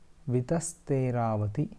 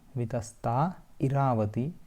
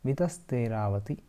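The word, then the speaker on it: वितस्तेरावती: Ganga, Saraswati, Sindhu, Chandrabhaga, Tathapara or Tatha Apara, Tathapara, Yamunascha, Shatadruscha, Vitasteravati, Vitasta Iravati, Vitasteravati. Then Kuhuhu, last one is Kuhuhu.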